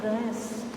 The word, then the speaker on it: Reims: And below you can read Reims. It's pronounced this way in French, but written R-E-I-M-S.